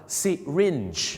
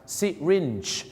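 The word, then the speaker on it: syringe: โรง พยาบาล สิ ครับ ที่ จริง แล้ว นะ ครับ คำ ว่า เข็ม ฉีด ยา เ ออก เสียง ว่า sirin นั่น เอง ครับ siring เหมือน กับ นัก ร้อง นะ ครับ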